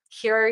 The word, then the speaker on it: Hiro: know what Hero is, but Hero is spelled HIRO. I'm going to pop that up on the screen for you guys to see. So Hero, that's how it's spelled, not E, it's with an I.